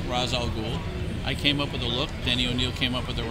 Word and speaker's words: Ra's al Ghul: Ra's al Ghul, and you pronounce it correctly.